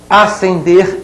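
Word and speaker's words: ascender: Acender e acender, olhem bem, são dois homônimos, homófonos, não são parônimos. A letra S não se pronuncia ali no segundo verbo, hein?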